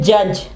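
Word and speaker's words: judge: Sorry, D जो है वो साइलेंट होगा, डी जो वो आवाज नहीं देगा। ठीक है, इसकी एग्जांपल है जज।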